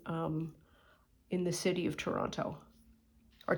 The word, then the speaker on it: Toronto: in the city of Toronto or Toronto if you want to be if you want to sound native don't pronounce the second t that's my for you